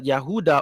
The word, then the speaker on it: Yehuda: like the descendants of the yehuda or Judah or which is the true pronunciation of Judah.